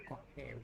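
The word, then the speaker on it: אוהב: I'll, I'll have, I'll have, I'll have, Aleph is silent. Supposed to be pronounced as O. oh, oh, hey, oh, Ohev.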